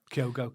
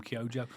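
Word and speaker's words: Kyogo: Most of our money has been on Kyojo. So, it's Kyo. I need to get that right because a few people picked me up in the last podcast. I call him Kyojo.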